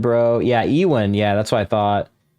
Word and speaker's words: Ewan: Ewan, bro.